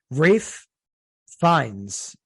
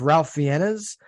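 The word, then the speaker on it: Ralph Fiennes: Last episode we featured uh Rafe Fines um the actor. And I I mispronounced his name every time I said his name.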